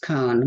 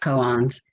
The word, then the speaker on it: koan: The word koan, I always thought it was pronounced cone, which is, a riddle, but it's actually pronounced koans.